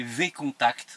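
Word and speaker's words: VKontakte: et ça devient catastrophique alors on prononce contact mais c'est enfin à la française c'est V contact hein qui voà qui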